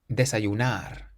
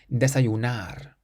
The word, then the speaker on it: desayunar: The next word is quite similar, but it ends in an R instead, so we stress the last syllable. Desayunar. Desayunar means to have breakfast.